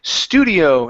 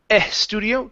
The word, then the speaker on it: studio: go to the word Studio instead of E Studio take off the e sound this is s studio studio good job good okay um